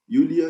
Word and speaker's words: Iulia: Em alguns dicionários vai aparecer assim, mas esse J é para ser pronunciado como I, né, como uma semivogal de I. Yulia, Yuliai, feminino.